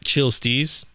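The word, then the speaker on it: CHL STZ: got a play here called chill stees but it's spelled CHL space stz have another playlist here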